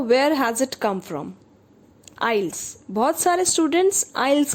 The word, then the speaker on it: IELTS: पड़ता है, that is आइल्स. इसका प्रोनाउंसिएशन है आइल्स, नॉट आइल्स. टी is silent here. और इस टेस्ट में एनालिटिकल